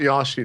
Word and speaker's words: Yoshi: I don't even remember the rest of the game now, and I'm always gonna call it Yoshi now.